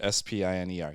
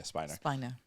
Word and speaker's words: Spiner: Brent Spiner, Spiner. Yeah, Spiner.